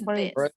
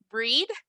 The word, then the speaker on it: bread: What is Bread. this? Bread. Bread. Okay, very good. So careful with pronunciation here. A lo mejor mi instinto me dice que esto se dice breed. Porque, por ejemplo, o braid.